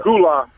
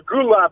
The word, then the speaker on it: Gullah: Gullah or Gula is the way it's pronounced.